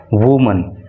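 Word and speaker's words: women: और जब ये बहुवचन होता है तो इसको वीमन बोलते हैं और स्पेलिंग में अंतर आ जाता है ए के स्थान पर इ हो जाता है।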